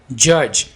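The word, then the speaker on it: judge: जज, डी को यहाँ पर साइलेंट रखें. जज.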